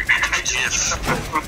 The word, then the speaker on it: GIF: I accidentally sent another little, dank meme or gif. 1 second. Why? Oh, Chase, you pronounced it the correct way.